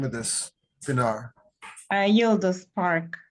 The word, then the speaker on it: Yıldız: How do we pronounce the name of this, Pinar? Yıldız Park. Yıldız.